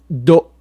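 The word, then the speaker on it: D'oh: would say BRR and finally my favorite dope dope which is spelled D apostrophe Oh H this actually comes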